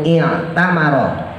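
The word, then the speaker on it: اعتمر: Qala, berkata beliau, anna Rasulullahi, sesungguhnya Rasulullah sallallahu alaihi wasallam itu i'tamara. Nah, itu hamzah wasl tuh. Tapi dibacanya bukan u, bukan a, tapi i. I'tamara ya, karena dia fi'il madhi.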